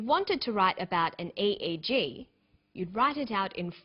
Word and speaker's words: EEG: researchers he says an e e g that's an abbreviation we don't pronounce it egg we say e e g e eeg stands for